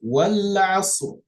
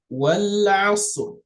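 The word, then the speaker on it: والعصر: Wal asr. Wal asr. You see, I pronounce the ra, kind of shorten the sound of the ra, meaning I give it a sukun.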